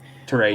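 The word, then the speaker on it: Touré: and maj tor um i always say his name wrong taray yep yes thank you um who i keep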